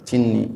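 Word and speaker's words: جني: Jinin dan Abul Fatih bin Jinni Jinni orang bacanya Jinni ya wata ya bi'uhuma al-musannif ya dan mengikuti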